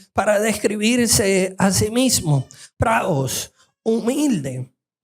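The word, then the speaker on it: πραΰς: Se escribe pra e is, pero se pronuncia pra is. Y esa es exactamente la misma palabra que usa Jesús en Mateo 11 para describirse a sí mismo, praus, humilde.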